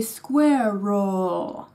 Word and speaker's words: squirrel: trying to reproduce it so it's squirel not squirrel so basically we tend to rush ourselves with a second syllable partly because we're scared of mispronouncing it anyway and partly because we feel like it isn't really a syllable so that's it dear Germans say Square roll Square roll take your time and